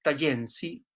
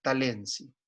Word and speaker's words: Talensi: En esta tipología, los casos estudiados son los Logoli, los Nuer y los Tayensi, o también, como se pronuncia, Talensi. ¿Ya? Se pronuncia de las dos maneras.